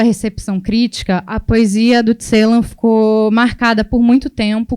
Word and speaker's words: Celan: E vocês vão perceber que eu falo Paul Celan e não Paul Celan, porque é a pronúncia em língua alemã, mas ele ficou famoso pela pronúncia francesa por ser um poeta que morou na França por anos, né?